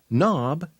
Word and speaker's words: knob: can hurt your knuckle others with a silent K before n are night knob not knife who is the fool